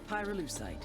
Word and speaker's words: pyrolucite: yeah neither did I pyrolucite key syllable pyro by the way is